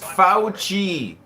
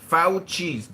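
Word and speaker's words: Fauci: His name is pronounced Fouchi. Fouchi.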